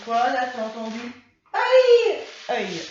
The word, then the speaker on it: œil: Tu as entendu œil? Œil. Ah bah oui, œil comme l'œil. Mais bon, ça s'écrit pas pareil. Œil. Alors, on entend E. On entend le E. Œil. Voilà, œil comme un écureuil.